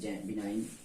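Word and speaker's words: benign: इसी तरह साइन, डिजाइन, बिनाइन सभी में रूल वही है कि जी के पहले आई और जी के तुरंत बाद एन नहीं होना चाहिए, नहीं तो जी साइलेंट हो जाएगा।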